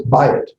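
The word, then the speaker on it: בַּיִת: to say instead of it's not buy it it's buy it it's not via it it's by it and so it's a hard b sound to it well what happens is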